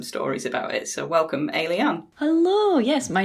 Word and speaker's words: Ayliean: So welcome, Ayliean. Hello, yes, my name is Ayliean and everyone pronounces it differently. It's Ayliean like an alien.